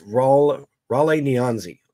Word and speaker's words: Raleigh Nyanzi: I've seen a couple people pronounce this a couple different ways. From my understanding, it's Raleigh Nyanzi, okay?